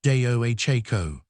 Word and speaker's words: Deohako: In the Ho-Chunk community, there's a guiding principle surrounding their traditional agriculture called Deohako, pronounced day-o-ha-ko.